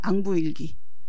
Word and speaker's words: 앙부일구: 요것도 이제 뭐 자경로 이런 것이고, 요거는 우리들이 잘 알고 있는 앙부일기. 앙부일구라고도 하는데 요 구자가요 그 솥단지 이런 거거든요. 근데 해시계라는 의미로 쓸 때는 사실은 귀라고 발음을 해야 되는 거예요.